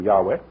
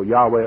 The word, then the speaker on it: Yahweh: V or the W because the ancient pronunciation was W the modern pronunciation later Hebrew came along with a a V type of pronunciation on that type of construction but in any case the ancient most ancient usage was as far as I know Yahweh or yahwah or something like that but other people will